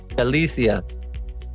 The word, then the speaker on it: Galicia: And, and even if you're moving 10 hours away, and how do you pronounce it? Galicia? Galicia.